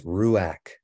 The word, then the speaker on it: ruach: the ruach the ruach the ruach if you want to pronounce it right it's a Pathak so it's ruak right but the ruak